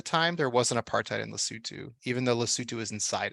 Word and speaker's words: Lesotho: Lesotho is that it Lesotho okay how do you spell that l-e-s-o-t-h-o oh and O is pronounced ooh yes listen to um